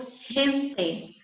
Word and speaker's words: gente: Quando eu tenho a palavra gente em espanhol, eu pronuncio gente. Mas por que eu pronuncio gente? Porque a regra diz que a pronúncia tem som de R do português e diante